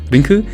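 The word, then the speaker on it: リンク: katakana right there is this little Rinku basically just how the Japanese pronounce the name link and also I want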